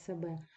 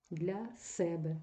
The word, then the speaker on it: себе: на собі зверніть увагу якщо у вас без прийменника то наголос падає на другий склад себе якщо ви додаєте прийменник наприклад для для себе тоді переміщається наголос і падає на перший склад займенник зворотний Має відношення